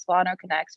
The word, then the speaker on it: SolanoConnex: emotional health resources and services you can visit solano connects which is spelt c-o-n-n-e-x dot org you